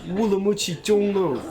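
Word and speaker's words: 乌鲁木齐中路: I think the correct pronunciation is Wulamuchi Zhonglu, but it was pretty close.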